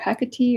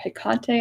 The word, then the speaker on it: Hekate: to hang out with I've heard this pronounced multiple ways to hecatee or hekate I've heard it pronounced